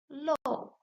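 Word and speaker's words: 漏: This character is pronounced with the four tone low and means to leak, to drip, to fall out.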